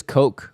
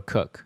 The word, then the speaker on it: Koch: No, there was a guy at my high school and he spelled his last name Koch, but it was actually pronounced Cook. So I'm not saying... I think it actually is Coke or Cook.